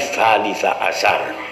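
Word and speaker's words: ثالث عشر: Awas, kalau ning salis asar bacanya salis asar, butun salisu butun salisi tapi salisa asar.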